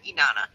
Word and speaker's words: Inanna: Inanna. I's are pronounced like E's. E's are pronounced like A's.